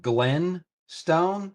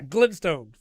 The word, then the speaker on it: Glintstone: Were you saying Glen Stone? Yeah, Glintstone. Can you spell that? Glintstone. Glintstone. Okay. Glintstone. Yeah, Glint. I was hearing Glen.